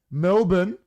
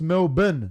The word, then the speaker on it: Melbourne: how they pronounce it Melbourne pronounced melbin not Melbourne do you say Mill born you don't say Melbourne Melbourne yeah Melbourne exactly you don't pronounce the r or the EU no